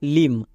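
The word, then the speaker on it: limb: তারপরে silent B কে বসিয়ে দেব যেমন দেখো লিম এখানে আমরা কি করে বুঝবো কোনটা সাইলেন্ট চলো আমরা প্রথমে বানান করি লো এর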